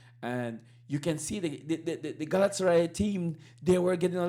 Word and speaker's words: Galatasaray: Um, Liverpool is sitting and they're waiting on Galatasaray. Yeah, I think that's how you pronounce it.